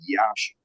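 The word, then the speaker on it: Iași: in northeastern Romania the city was is called Yash Romania or ji if you're I guess pronouncing it in English M it was a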